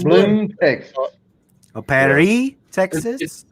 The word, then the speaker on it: Blum: probably They say pronounce blue. it Bloom. I would say blue, Bloom. Texas. It's Bloom, Texas.